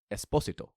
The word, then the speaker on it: Esposito: a lot I'm always Carlo Esposito is that not how you say it it's Esposito Esposito okay yeah cuz cuz